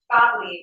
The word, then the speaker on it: Gottlieb: Gottlieb, it's Gottlieb. German for God's love.